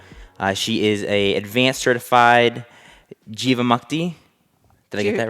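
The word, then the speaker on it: Jivamukti: She is a advanced certified Jiva Mukti. Did I get that right? Jiva Mukti. Jiva Mukti. Perfect. Thank you. Yeah. Feel free to help me with the pronunciations here.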